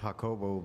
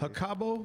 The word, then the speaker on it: Jacubo: It's pronounced Hakobo, but uh for all my English friends, Hakabo could be uh Hakobo.